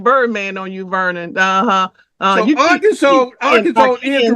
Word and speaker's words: Arkansas: So Arkansas is the right pronunciation, as far as I'm concerned.